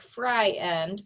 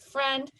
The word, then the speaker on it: friend: Okay, because it would be a 2-syllable word right here and it would look like fry end, but that's not how we say that word. We say it friend.